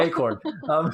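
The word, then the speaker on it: Achor: Is it Sean Acor? Sean Acor? Acorn. I don't know. I don't know. You know how to say it? I Acorn? know. Okay, yeah. Acorn. Acorn? It's like Sean squirrel. Acorn.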